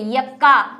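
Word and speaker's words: Yucca: एक उदाहरण दिया था मैंने वहां पे, यक्का, जिसको इंग्लिश में स्पेलिंग तो ये है इसकी, युक्का भी कहते हैं इसको, क्या कहा था कि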